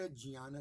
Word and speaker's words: ज्ञान: के समय ध्यान रखिए मैं जान-बूझकर के ज्ञान शुद्ध का इस्तेमाल कर रहा हूं क्योंकि उसका सही उच्चारण है मराठी वाले ध्यान करते हैं घी वाले ज्ञान करते हैं यह दोनों उच्चारण गलत कहना सही उच्चारण ज्ञान है परंतु यही मनुष्य